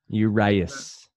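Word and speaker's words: Urías: it like a true American uras yeah right uras let me let me just get to the bottom of this so baseball reference are we doing it urious right what Urus Urus yes are you uus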